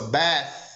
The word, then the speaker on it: bath: essa palavra comigo ó presta atenção sempre quando eu for pronunciar o th onde vai mesmo a língua entre os dentes ó bath bath bath Então coloque a mão em frente ao rosto ó bath senti o vento se você sentir o vento a pronúncia tá correta se não colocar a